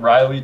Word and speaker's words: Reilly: just posted a YouTube video on our Channel Riley TCG which is spelled same as my last name re e